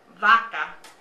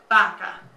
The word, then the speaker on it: vaca: Burro, vaca. Burro, vaca. Burro, vaca, okay? Both of those kind of make a softer B sound. It's not as hard as boy, okay?